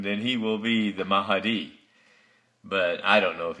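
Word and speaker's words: Mahdi: himself the mahi uh I may not pronounce it it's m-a-h-d-i mahadi mahadi that's okay that's the way it's pronounced mahadi uh and and the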